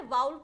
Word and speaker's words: vowel: इसको क्या पढ़ते हैं, बहुत सारे लोग इसे वॉवल पढ़ते हैं, गलत प्रोनाउंसिएशन है, वाउल पढ़ा जाता है इसको, है ना। तो वाउल क्या होता है, ए ई आई ओ यू, हाँ आपके स्कूल की टीचर ने पढ़ाया जरूर होगा वावल, वो गलत प्रोनाउंसिएशन है ना।